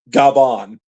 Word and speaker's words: Gavan: Gabon. Yeah. Okay. Is that what uh I know that's the Japanese pronunciation of Gavon, but I take it uh you're talking about uh potential Gavon Gbon.